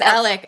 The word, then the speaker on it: Alex: Yeah, it's Alec.